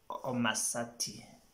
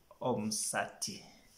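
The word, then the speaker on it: Omusati: You find some people say Omasati. No, it should be Omsati.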